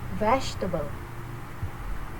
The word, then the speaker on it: vegetable: This word often mispronounced because it is spoken form is spoken form is shorter than its written form. In the correct pronunciation, the Praat display shows primary stress on the first syllable, veg.